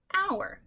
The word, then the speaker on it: hour: It has a silent H. Okay, we don't pronounce this H. We don't do the, okay, we don't say hour. This is hour. The H is silent.